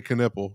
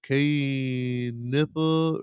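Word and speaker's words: Knueppel: And I just want to say Knipple, so. Knipple. Sean tried to act like he didn't know how to say it earlier. Knipple, K-nipple. No, it's Knipple. You know it. It's Knipple.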